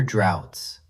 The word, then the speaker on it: drought: For instance, many parts of the world are now suffering from severe droughts. Let's spell that word out for our listeners. It's D-R-O-U-G-H-T, but we pronounce it as drought.